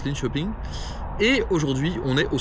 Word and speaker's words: Linköping: Ça s'écrit Linköping, mais apparemment, merci les abonnés sur Instagram, ça se prononce Linköping.